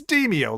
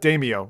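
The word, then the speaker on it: Demeo: to come out and they're like this is how you pronounce it it's demio like demons because I used to call it damio or like yeah like uh like demo oh man that's that's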